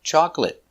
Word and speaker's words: chocolate: stop T chocolate chocolate remember two syllables chocolate not chocolate not three two chocolate stress is on the first syllable chocolate chocolate it's not